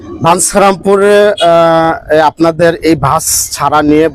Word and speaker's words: বাঞ্ছারামপুর: সংযুক্তের মধ্যে সমস্যা হয়েছে, চ আর ছ উচ্চারণটা বা সংযুক্তটা হবে ছ, ইও সংযুক্ত ছ, তাহলে বাঞ্ছারামপুর বানামটা অফিসিয়ালি হয়ে যায়।